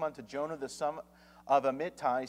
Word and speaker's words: Amittai: Now the word of the Lord came unto Jonah the son of Amittai, saying, Arise, go to Nineveh, that great city, and cry against it, for their wickedness is come up before me.